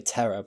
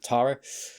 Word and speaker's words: Tara: We had, you know, was it is it I want to say Terra, but I think people Tara, sorry, pronunciation came back in, said what she said.